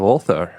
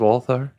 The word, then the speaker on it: Ulthar: Why is it spelled like it sounds?